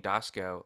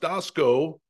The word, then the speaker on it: Doskow: But yeah, no, it's funny because it's pronounced Doskow, this part of the country. But back east, all my cousins and relatives out there, it's Doskow. But people do Doskow. People say Doskow. I don't correct them. Even though it's Doskow out here, but a lot of people on the team, it's just, it looks the way it's phonetically, we see it Doskow.